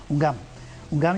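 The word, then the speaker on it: houngan: Miguel, ¿qué es a ver si lo pronuncio bien, Oungan y un Bokor? Ungam y Bokor.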